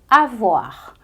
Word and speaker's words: avoir: muito importante no francês que é o verbo avoar a voar que já puxa coisas que você